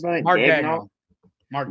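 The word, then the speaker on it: Daigneault: Which how you pronounce that? Mark Dagnall. Mark Dagnall.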